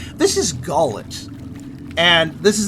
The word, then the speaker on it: Gullet: off to a stupendous start with with my pronunciation this is gallet and this is not a play by the